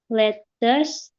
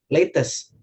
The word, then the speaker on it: lettuce: First step, prepare a pan, slice cheese, 2 slices of bread, lettuce, tomato, egg, butter, and mayonnaise.